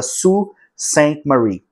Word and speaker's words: Sault Ste. Marie: Vou deixar o nome para vocês saberem exatamente como escreve, porque a pronúncia da primeira palavra é diferente do que e tá escrito.